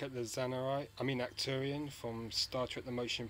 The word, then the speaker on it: Arcturian: Arcturian or Arcturian. Keep forgetting to pronounce the R.